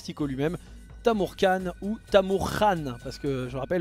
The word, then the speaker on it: Tamurkhan: lui-même Tamour KH ou Tamour Khan parce que je rappelle le KH ça se prononce Khan donc Tamour Khan en tant que mais